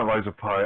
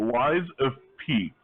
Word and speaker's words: Lies of P: um why is it or not rise of pi i keep almost every time i say the name of this game i say it wrong i have to like consciously think about it the lies of p it's a pinocchio game